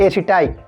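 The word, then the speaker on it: aceti: एसिटी या फिर Acetobacter एसिटाई। ठीक है, अब उच्चारण के आधार पे, ठीक है, कुछ लोग एसिटी बोलते हैं, कुछ लोग एसिटाई बोलते हैं। ठीक है, आपको जो अच्छा लगे वही बोलिए।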